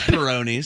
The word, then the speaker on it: Peyronie's: And- are we pronouncing that properly? No, it's Peyronie's.